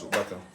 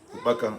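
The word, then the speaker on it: ukpaka: Ask them, what is opaka? Opaka is spelled U-K-P-A-K-A.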